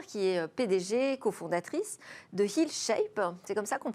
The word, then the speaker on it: HealShape: Alors aujourd'hui, vous avez jeté votre dévolu sur Sophie Braque de la Perrière, qui est PDG, cofondatrice de HealShape. C'est comme ça qu'on prononce ?